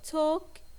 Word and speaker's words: talk: is silent we have the word talk and the L is silent we have the word